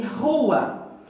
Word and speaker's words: rua: As palavras que estão aqui: rapadura, registro e rua. Quando eu pronuncio essas palavras iniciadas com a consoante R, sai aquele barulho assim raspando lá na garganta.